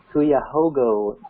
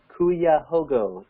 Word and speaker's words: Cuyahoga: Another question here regarding Ohio: does Devoted have plans in Cuyahoga County, which is Cleveland?